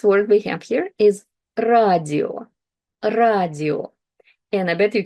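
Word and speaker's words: радио: So the first word we have here is radio, radio. And I bet you can recognize it, that it's radio.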